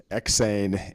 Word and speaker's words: EksAyn: it or spell it you spell eks not to capital a right in the middle of my name they say it Swedish I gotta tell you